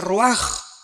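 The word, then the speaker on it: רוח: rach con r de raul a H se pronuncia ro por ejemplo cuando hablamos del Espíritu Santo El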